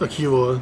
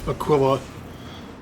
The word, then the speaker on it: Aquila: The name is supposed to be pronounced Aquila, not Aquila. But, you know, whatever. It's sci-fi. They can do whatever they want, I guess. Or Aquila, from the Latin Aquila.